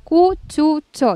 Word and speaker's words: cuchucho: Extra cámaras, Martín me aló las orejas porque yo pronuncié mal. Es cuchucho.